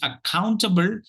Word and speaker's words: accountable: word for today is accountable the the second syllable gets the takes the accent and uh that's because